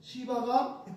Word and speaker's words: 시바: 그래서 그 시바가, 발음 세게 하면 안 되지, 시바가 그 종이 그때부터 밭을 갈고 일궈서 자기 주인에게 돌려주는 거예요.